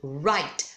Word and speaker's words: write: No caso de write, o som termina em T, o E é mudo, write.